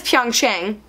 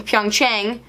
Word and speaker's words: Pyeongchang: So that is Pyeongchang, C-H, Chang. There's also Pyongyang, Pyeongchang, again, assuming I'm saying